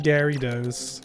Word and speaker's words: Gyarados: And I think a lot of people pronounce it like this. Gary. Dose. I thought this was funny.